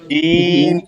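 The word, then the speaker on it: جيم: তাহলে হচ্ছে আমরা জিম শক্ত করি, জিমের উচ্চারণটা হচ্ছে শক্ত করি।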